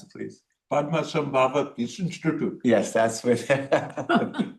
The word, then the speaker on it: Padmasambhava: And then the other project I visited was out at the PPI, or can you pronounce it, please? Padmasambhava Peace Institute.